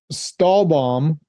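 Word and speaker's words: Stahlbaum: oh Ginger Snap um stall bomb I believe I'm pronouncing that right is German for steel tree like Steel s t e correct okay not like you go steal a tree yeah I'm nicholus steel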